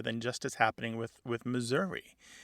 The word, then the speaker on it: Missouri: becoming a schwa, because some Missourians don't say Missouri or Missouri. They say Missouri, more like the E in get or met.